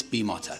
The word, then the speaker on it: Bimota: Plus, in Italy, I is pronounced EE. So you look at Lamborghini, you look at Ferrari, you look at pizza, you look at the Leaning Tower of Pisa. That's just how you say it.